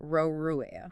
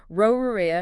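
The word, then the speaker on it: ร: Because Thai doesn't have an R ending sound in its 8 allowed categories, Roruea shapeshifts into an N sound.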